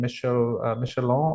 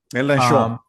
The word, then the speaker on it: Mélenchon: rights with the leftist party, what's his name, Michelon, or how do you say his name? Mélenchon.